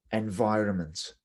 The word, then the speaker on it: environment: first word we have environment environment so just remember that the n is silent let's go environmental issues